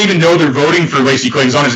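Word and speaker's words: Lacy Clay: I think Lacey Clay. I mean, it's weird that he has a woman's name. I think it's weird that it rhymes with lazy.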